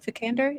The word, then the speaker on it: Vikander: do the candor yeah I don't know how to say her it vikander is how you say she's Oscar when she's